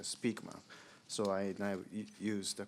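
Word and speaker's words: Spykman: I once pronounced his name Nicholas Spikeman, but somebody corrected my pronunciation that his actual pronunciation is a Speakman.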